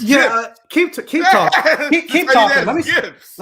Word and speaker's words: GIF: Like y'all said, definitely a hard G GIF.